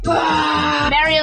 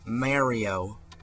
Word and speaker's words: Mario: what 20 some years it's been pronounced Mario with a a short a it's always been a short a yet El kids to say Mario it's ridiculous Amazing Adventure